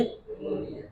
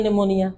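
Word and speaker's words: pneumonia: ये पी पी क्या पढ़ेंगे इसे क्या पढ़ेंगे निनिया क्यों पढ़ेंगे निमोनिया इसम साइलेंट तो है ही नहीं ठीक है इसमें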